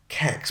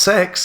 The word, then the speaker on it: CeX: him working in like Kex, but then that's me looking down on him. Kex? Yeah, man. What the fuck is Kex? Oh, CEX. Yeah, no one says Kex. No? It's pronounced sex.